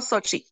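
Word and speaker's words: Xochi: It's Grupo Sochi. That's what I thought. Thank you. I knew the X made a ch sound. Grupo Sochi, or a C sound rather.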